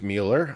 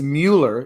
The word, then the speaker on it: Mueller: Yeah, and I said I don't care that everyone pronounces it Robert Mueller. It's Mueller in the same way it's Bueller, and there's an E in there for a reason.